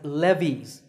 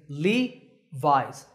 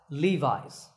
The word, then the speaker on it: Levi's: founder by the way the name is often pronounced wrongly as Levy's that's not correct remember that the correct way to say it is Levi's Levi's up next is the